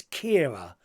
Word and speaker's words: Chiara: I thank you Colin Chiara is like the same as Kiera or Kiera oh it's Kiera is it is that how you say it Kiera Chiara is the Irish spelling so it's Kiera you might have to